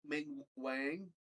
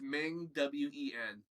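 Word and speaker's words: Ming-Na Wen: Fennec Shard, played by what's her Ming Wang? No, Ming Wong, or I can't pronounce her real name probably. It's Ming Wen.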